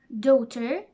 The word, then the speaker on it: daughter: end of them and they are silent GH our daughter slaughter no t straight wait eight fight height at the end of the